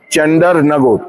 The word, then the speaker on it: চন্দননগর: চাঁদের না সঠিক উচ্চারণ হবে চান্ডার নগর। এটা এসেছিল চণ্ডীর নগর থেকে।